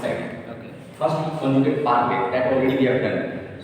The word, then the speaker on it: parler: We pronounce it parler already I told. Whenever verbs are ending with or will make single sound a. So we pronounce it parler.